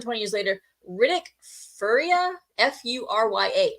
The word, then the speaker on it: Furya: But 20 years later, more than 20 years later, Riddick Furya, F-U-R-Y-A. I don't know how to pronounce that. I think it's Furya.